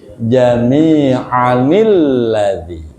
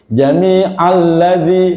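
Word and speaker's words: جميعا الذي: wiqayah nun pengganti tanwin ketika Bapak mewasalkan jamian menjadi jamianilladzi cara bacanya begitu itu jamianilladzi a dibaca pendek tanwinnya diganti nun jamianilladzi kalau waqaf jamia panjang kalau wasal jamianilladzi dibaca pendek bukan begini jami alladzi bukan jami alladzi tapi jamianilladzi ada enggak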